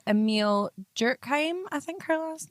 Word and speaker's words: Durkheim: So this was coined by a sociologist called Emile Durkheim, I think her last name is pronounced.